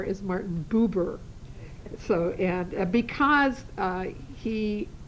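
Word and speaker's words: Buber: and uh secondly look up people's names and pronunciations uh Martin b u b r is Martin bber so and because uh he was a fairly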